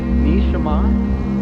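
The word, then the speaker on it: נשמה: Hebrew, the Hebrew language, the vowels are omitted, so it's consonants only, although I'm showing how the vowels will be pronounced. In Hebrew, the word for soul, neshama, nshmh.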